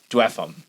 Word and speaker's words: Dweghom: I'm going to pronounce the GH like you do in cough. Dweghom.